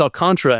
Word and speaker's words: Alcantara: Sandy Alcantara. Alcantara? It's pronounced Alcantara, and they will see him tomorrow.